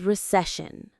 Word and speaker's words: recession: The word is recession. Let's practice saying it. Recession. Recession. The parts are reunion. The stress is on that middle syllable.